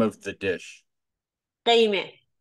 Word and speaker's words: Gheimeh: Gheimeh. Game. Yes. It's very good. Yeah, actually it was a very good pronunciation.